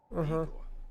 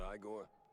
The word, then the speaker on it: Eigor: Eigor, not Igore.